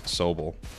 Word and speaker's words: Sobble: I always get the name wrong. I always read it as Sobble, but obviously it makes so much more sense as Sobble. It's sobbing.